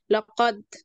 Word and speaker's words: لقد: فلما نيجي ننطقها بنعمل لها ذبذبة، فبنقول ايه؟ لقد لقد. هتلاقي ان انت بتنطق الحرف ايه؟ بقلقلة، مش مثلا بتقول ايه لقد، لا لقد لقد حق القول عليهم.